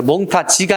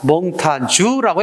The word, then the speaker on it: 몽타주: 몽타주 밑줄 장 몽타주 프랑스에서 온 말은 프랑스의 현지 발음을 따라서 썼습니다 그래서 몽타지가 아니라 몽타 주라고 해 맞습니다 몽타주 밑 줄자